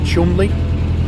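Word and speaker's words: Cholmondeley: that weird word um which looks like it's spelled chol mondelee but I think it's pronounced Chumley you know I'm not up with uh you know upper class we see pronunciation all that kind of thing so um that might not be 100 accurate you get the idea there are lots more letters in it than are actually pronounced I think we'll approach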